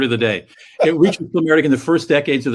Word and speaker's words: climacteric: European adventurism and imperialism, and it reached its climacteric. That's a new word to me. How do you pronounce it? Climacteric.